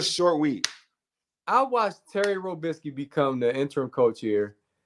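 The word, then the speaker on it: Robiskie: he said his name he called him robinsky with an N he said I'm sorry for coach robinsky this is they loaded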